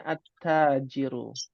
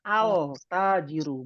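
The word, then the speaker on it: التاجر: huruf Syamsiah maka tanya Jadi tasdid dibacanya attajiru bukan alajiru bukan karena di huruf Syamsiah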